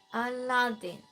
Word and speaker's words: Aladdin: Scott says, but Aladdin put the emphasis on the second syllable. Just trying to help second syllable. Aladdin.